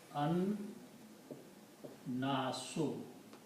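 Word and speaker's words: النَّاس: okay in the T in the pronunciation we do not pronounce lamb but pronounce noon twice so it becomes un so the word is okay so this word becomes an nasu anas is the anas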